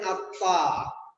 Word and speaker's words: আত্মা: ফলার উচ্চারণ বজায় থাকে যেমন আমরা সংস্কৃতে লিখি আত্মা ম কিন্তু উচ্চারণ করি আত্মা তাহলে মফলার উচ্চারণ হয় না লিখি চশমা কিন্তু উচ্চারণ